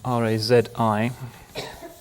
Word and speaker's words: Razi: two great towering figures one of them is razi I'll Venture not to write his name up because it should be easy r-a-z-i razi in this part of the world he